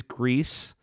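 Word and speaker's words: Gris: grease it's it is grease and it's going with a Spanish pronunciation because the developers there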